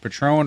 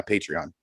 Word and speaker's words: Patreon: jesse uh was asking are you talking about patron or patreon which i think you mean patreon uh what you were mentioning yes patreon i knew i was saying it wrong the whole freaking time i'm in my head going uh that doesn't sound right but yeah patreon you